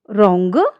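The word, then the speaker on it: wrong: जब शब्द के शुरुआत में आर से पहले डब्ल्यू आता है तो डब्ल्यू जो है वो हमारा साइलेंट रहता है। एग्जांपल से देखें राइट रॉन्ग रिस्ट नेक्स्ट है हमारा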